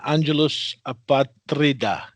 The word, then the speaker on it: Angelus Apatrida: Angelus Apatrida, correct?